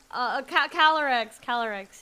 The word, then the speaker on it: Calyrex: am I mispronounced Calyrex? Right? It's like CAL. Yeah, I think it's like Cali, Cali, like California, and then YRE. REX. No wait, it's CALYREX. Yeah. Oh, it's a Y.